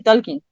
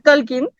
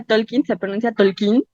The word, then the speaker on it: Tolkien: claro que este este tolkin que por cierto no se pronuncia Talking pero en la película